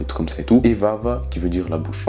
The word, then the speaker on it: vava: La bouche, ça se dit vava, V-A-V-A, simple.